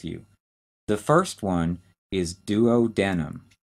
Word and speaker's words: duodenum: for those with you the first one is duodenum d-u-o-d-e-n-u-m duodenum the second and middle section is